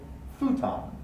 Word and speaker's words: futon: people say and then my favorite is the english pronunciation of this word is actually quite different we say futon futon but so the words are borrowed in so english learners of japanese have great difficulty not saying futon or my favorite oh